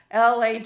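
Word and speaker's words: להה: The Hebrew word is lahah. Lawhah is the pronunciation, but in English it would be transliterated as lahahh, a lot of ha.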